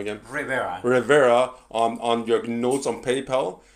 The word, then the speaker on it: Rivera: Rivera on your notes on PayPal, and if you